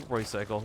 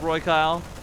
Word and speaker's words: Roycyle: Oh, I keep wanting to say Roycycle. Roycyle. It's pronounced Kyle. Man, who spells Kyle with a C? What's up, Roy Kyle?